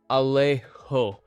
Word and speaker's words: Alejo: In IPA, Alejo would typically be transcribed something like Alejo with, then that's kind of how you pronounce it. So you're stressing the le part a bit, and that J sound is kind of a throaty H sound.